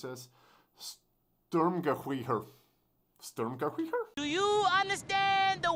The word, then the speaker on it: Sturmgewehr: Reason being is that SG stands for, how do you pronounce this? Sturmgewehr.